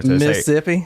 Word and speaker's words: Mississippi: Southern actually when you when you pronounce Mississippi you don't pronounce the other set of s's that's how you know somebody's from there Mississippi I'm from Mississippi oh